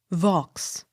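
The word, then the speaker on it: Vaux: v a u x vox the x sounded v i l l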